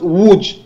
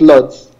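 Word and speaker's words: Łódź: it wood it's pronounced wood the l is with a stroke so it's woo so l o d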